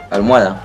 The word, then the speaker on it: almohada: es devota y dar la palabra almohada quienes estuvieron en clase anterior saben que cuando dos vocales abiertas se encuentra debe haber una separación entonces la palabra armada se separa así al mo a está la pregunta es